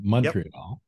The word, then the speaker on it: Montreal: that I always uh call it Montreal not Montreal but Montreal Montreal that's right and you just